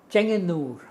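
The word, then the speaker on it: Chengannur: In a place called, let me see now, Chenganur. Can you spell it?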